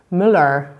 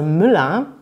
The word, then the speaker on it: Müller: man im deutschen nicht eigentlich kann man sich immer merken im deutschen wenn man ein ehe er am ende hat dass man das ganz oft wie ein ausspricht also müller das hört sich genauso an als würde am ende einfach ein a stehen und nicht ein müller das andere was man